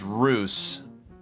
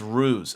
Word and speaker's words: ruse: oh he LGE oops pronounced Roose a a Russ of an oo oh it's ruse okay got it okay so